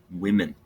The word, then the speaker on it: women: woman two or more not woman's but women listen to my pronunciation so it women one woman two women